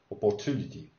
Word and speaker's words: opportunity: is a great opportunity so the accent is on to opportunity opportunity right i think that this